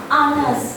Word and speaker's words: honest: Ini kan tulisannya honest kan, hak kan, tapi bacanya tuh pakai honest, gitu.